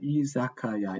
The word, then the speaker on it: Izakaya: Did I pronounce that? Izakaya, yeah.